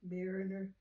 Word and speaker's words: Mariner: So his name is Theodore J. Mariner, M-A-R-I-N-E-R.